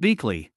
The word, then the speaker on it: Butchley: came over from germany bearing the name of butchley pronounced beakley the grandchildren scattered and